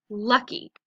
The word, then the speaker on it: lucky: L-u-k-e. L-u-k-e. Lucky. 2 syllables. Lucky. So that Y is going to sound like an E.